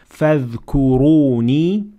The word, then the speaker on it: فاذكروني: So here we have several examples of ra that has to be pronounced full mouth because it has dhamma on top of it. So we say فاذكروني, and we say واشكروا, and ولا تكفرون.